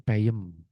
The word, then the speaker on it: peuyeum: Cibereum yang bacanya ciberem atau mungkin peuyeum yang bacanya peyem.